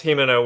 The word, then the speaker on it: Himeno: There's Kobeni, who is Courage the Cowardly Dog, and there's Himeno with the eye patch.